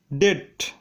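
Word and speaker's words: debt: Rule number 8, শব্দের মধ্যে যদি বিটি থাকে তবে বি এর উচ্চারণ হয় না। যেমন ডেট, ডাউট, স্যাটেল, এখানে বিটি পাশাপাশি আছে তাই বি এর উচ্চারণ হয়নি।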